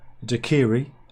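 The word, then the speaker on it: daiquiri: let's do this right the correct the correct pronunciation is dakiri knock the Kiwi well I said it right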